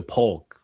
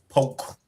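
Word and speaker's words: Polk: You got to say it right. Poke. Yeah. Now that K silent it's P it's P.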